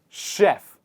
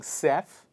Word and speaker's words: chef: inside of the mouth the first one is chef if you are still saying sef no problem you will come